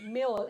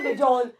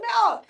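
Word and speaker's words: Mjol: Meol. M-J-O-L. Meol. Exactly. Not Majol. Most people say Majol. I was like, dude, it's Meol. J is silent.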